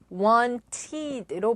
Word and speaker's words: wanted: ed로 발음합니다. 즉 want, wanted로 발음을 한다는 것이죠.